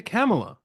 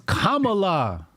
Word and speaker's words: Kamala: get off camela ca's Kamala you saying it wrong man cameela no it's Kamala kamala's you say come